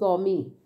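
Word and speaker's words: gourmet: यह याद रखना कि इसका साउंड में मेट नहीं है इसका साउंड इस गमी राइट तो यह तो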